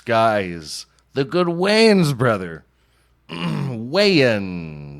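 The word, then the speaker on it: Wayans: the good WS brother wean it's like mayonnaise you know weird last name well you got to say it right you could say Wayne is Wayne bra they're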